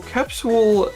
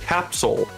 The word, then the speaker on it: capsule: Well, capsule is an okay pronunciation because it kind of follows the letters, but capsule, like S-O-L, Capsule. is pronounce it. Capsule. Okay. My brain just clung to like it needs some ooh in there. And then that's what people don't normally do. People don't normally include the ooh.